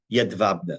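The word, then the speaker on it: Jedwabne: small town called called yed vabna spelled with a j j d w a b NE yed vabna what happened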